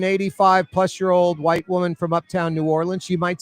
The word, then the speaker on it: New Orleans: It's real easy to pronounce it. 3 syllables. New, or, and then L-I-N-Z is the best way. You heard him? This is New Orleans.